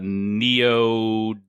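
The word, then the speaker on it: neodymium: rare I know they're made out of uh neodyium I think is how you pronounce it nailed it yeah uh apparently these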